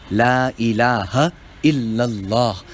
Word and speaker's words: La ilaha illallah: La ilaha illallah. The ha, la ilaha, and illallah, the ha, both must be clear.